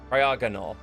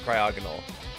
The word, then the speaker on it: Cryogonal: Cryogonal, I believe is how it's pronounced.